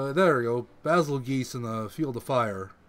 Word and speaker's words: Bazelgeuse: butt it's very Oh Basile geese in the field of fire I'm pretty sure it's pronounced battle of geese yeah I don't know